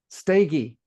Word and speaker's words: Steege: Pete Steege, Steege, I think is how it's pronounced. Peggy. Steege. Oh my gosh, I knew I had it. I knew it was stay, but I forgot the gee.